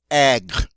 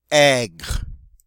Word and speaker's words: aigre: the feminine form is the same, and it's pronounced aigre. Aigre.